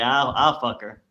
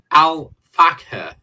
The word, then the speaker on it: Al Fakher: He would say, I'll fuck her. And isn't it Al Fakher, F-A-K? Jesus Christ, we are getting pulled up on our pronunciation by Chris.